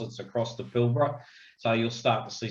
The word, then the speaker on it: Pilbara: come here they say pilbara and of course that first a is silent everybody it's pilbara so there's a little